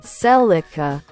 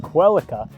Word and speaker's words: Celica: Celica, Celica, Celica, Celica. So to understand this, we need to look at the origin of the name, because it actually comes from a Latin word, Celica.